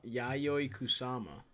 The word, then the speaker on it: Yayoi Kusama: you saw Hakka mana you know a kusama yayoi kusama nice yeah bro she's a queen she's a